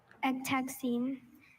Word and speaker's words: ectexine: ECT, Does but this this come time from it's spelled with a K. Latin ex, meaning out? Yes. Ectexine.